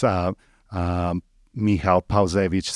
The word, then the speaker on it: Michal: So, if you look up my last name, which is pretty complicated, um, but it's, uh, um, Mihal Pa, which is spelled P A L Ze Wi CZ.